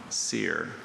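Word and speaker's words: cere: Seer, are there any alternate pronunciations? I see just the one, sear.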